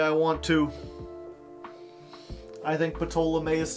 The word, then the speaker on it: Ptolemaeus: The P is silent. I'll pronounce things the way I want to. I think Ptolemaeus sounds cooler.